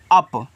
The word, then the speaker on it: up: UP, तो UP को पढ़ते हैं अप, यानी कि इस यू का उच्चारण आ के रूप में और पी का पा के रूप में, तो ए आपका अप हो जाएगा।